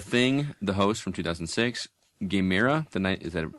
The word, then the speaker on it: Gamera: The Thing, The Host from 2006, Gamera, is that pronounced that right? Or Gamera? Gamera.